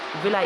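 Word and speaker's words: villi: देख लो यहां पर विलाई इसको बिल्ली नहीं पढ़ना स्पेलिंग से बिल्ली लग रहा होगा पर ये विलाई इसको पढ़नी है तो लिखा भी है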